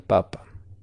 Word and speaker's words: papa: Si está en la primera sílaba el acento, como dije, es el tubérculo o el papa de la Iglesia Católica. ¿Muy bien?